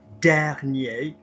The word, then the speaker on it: dernier: They're just words that are commonly mispronounced, like, because commonly what happens is premier, as we've just seen, or dernier, or petit, and it's not. It's premier, première, dernier, dernière, petit, petite.